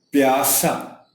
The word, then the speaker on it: پیاسا: پیاسا، پے کے نیچے زیر ہے.